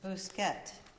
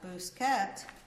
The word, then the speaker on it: Busquet: It's Busquet, U.S.